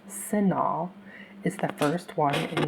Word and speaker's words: CINAHL: You will see that CINAHL plus with Full Text (pronounced "SIN-ALL") is the first one in the list.